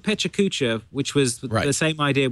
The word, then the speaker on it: Pecha Kucha: If you search on Pecha Kucha pronouncer, the first YouTube video.